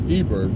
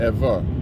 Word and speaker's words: Eber: b sound okay so that ever or eber what they pronounce ebird really should have been ever and this is something